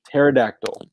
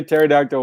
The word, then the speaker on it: pterodactyl: one for you um pterodactyl oh my gosh you have to talk like a pterodactyl why you why you spell it oh my god pterodactyl has a silent p at the beginning so that's my first